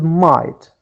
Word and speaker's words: might: other word which is might might as we said that geh are silent letters so what is elaborate